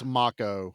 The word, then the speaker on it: Mako: It's Yeah, it's spelled like Mo, but it's MCCO. It's Makco.